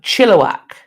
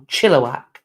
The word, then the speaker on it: Chilliwack: So Chilliwack, emphasis on the first syllable, Chilliwack.